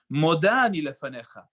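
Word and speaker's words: מודה אני לפניך: and according to, and the dikduk for a woman would be Moda ani lefanecha. I give thanks to you, Hashem.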